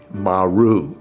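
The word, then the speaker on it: Moroe: a town called Moreau, M-O-R-O-E, but it's pronounced Maru, M-A-R-U, like you would say.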